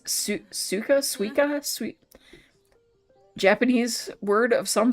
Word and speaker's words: Suika: I love a good, and I'm certain I say this incorrectly, but I love a good, like, Suka game. Yeah, the fruit game. It's Suika, sweet Japanese word of